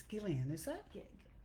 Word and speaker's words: Ghislaine: Okay, it's Gillian, is it? Yeah, It's spelled Gillane.